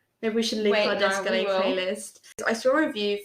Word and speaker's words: Descole: Okay, let's talk about Descalé first then. What the hell? I know someone said that they thought his name was Descole because it's spelt like Descole.